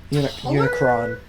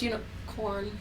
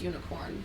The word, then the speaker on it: Unicorn: then they have unicorn which i think is unicron unicron it's unicorn this this one spells it unicron it it's pronounced unicorn well okay because it's from the gundam unicorn